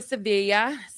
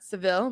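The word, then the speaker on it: Sevilla: But yeah, they're all getting ready to go to Sevea. I guess it's pronounced See and not Seville, but Sea, Spain.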